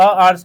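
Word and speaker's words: hour: क्योंकि एच जो है वो हमारा क्या है? साइलेंट है। ठीक है? इन आर एच इज़ साइलेंट। जो एच होता है वो हमारा क्या होता है? साइलेंट होता है। So article comes according to vowel sound O.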